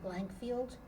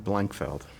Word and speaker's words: Blankfeld: I'm here to interview Blankfield. Feld. My name is Barbara Beyer. We're in West Palm Beach, Florida, WPEC Studios. Please tell me your name, please. Blankfeld.